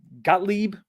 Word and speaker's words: Gottlieb: So it was developed and published by Gottlieb, I think is how you pronounce it, in 82.